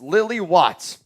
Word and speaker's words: Lily Watts: Name is pronounced Lil E. Watts. Lily? So it's Lily Watts.